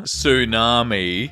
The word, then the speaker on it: tsunami: Tsunami. T is silent.